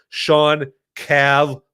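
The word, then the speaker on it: Shawn Cav: So it's spelled SH A WN and then Cav like Cavalere or Kavanaaugh. Sean Cav live on Rumble.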